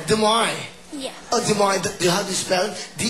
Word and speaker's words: Des Moines: Oh, with a silent S. Des Moines.